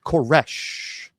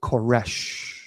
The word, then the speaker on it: Koresh: the charismatic leader David Koresh. That's how he told a um a reporter to say his name. He said always is David Koresh because he would say the sh is the voice of God.